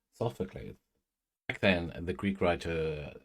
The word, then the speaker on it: Sophocles: I am pronouncing it correctly. Sophocles.